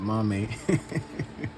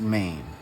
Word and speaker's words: MAME: In one of my last videos, I said mommy, but it's pronounced MAME.